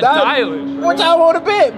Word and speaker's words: Dylan: That's why I said Dylan. Dylan. It's Dylan Edwards. Then that ain't Dylan. Dylan. Dylan Edwards. Dylan Edwards. That might say his name pronounced Dylan. D-Y-L-A-N. That's not Dylan. Told you Dylan.